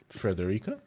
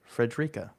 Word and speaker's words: Frederica: They missed the E in the middle and it makes it sound terrible.